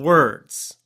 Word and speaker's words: words: We have word and then plural is words, right? That it's got a z sound at the end. Now, a lot of speakers will cut that sound. So they say word, word. And nobody hears the zzz. They don't hear the plural sound.